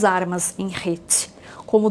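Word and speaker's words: חטא: A pronúncia dessa letra, da letra Het, lembra de pecado, né, que se escreve com as letras Het, Tet e Aleph. Pecado é Het. São iguais na pronúncia, mas não na escrita, porque a forma da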